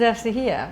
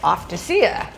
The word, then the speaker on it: Eftychia: Uh and your name is Estahia." But they didn't know how to pronounce my name. So it came out something like Offacea, which was sounded kind of pretty, but wasn't correct.